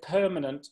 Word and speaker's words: permanent: She had problems saying the word permanent because she wasn't putting the word stress on the first syllable.